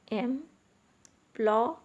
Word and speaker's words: employee: Employee. Okay. So employee. it consists of 3 syllables and the stress is on the last syllable, that is Y-E-E.